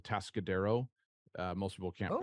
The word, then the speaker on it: Atascadero: I grew up in central coast of California, and in a city called Atascadero. Most people can't Oh, pronounce that when you just see it read off.